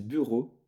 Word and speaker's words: Byra: pseudo alors du coup normalement c'est du suédois et ça se dit bureau en fait mais ça s'écrit Bira et ça signifie simplement